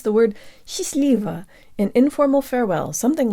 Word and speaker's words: счастливо: I'm Kira and today you'll learn how to pronounce the word she's leave an informal farewell something like have fun together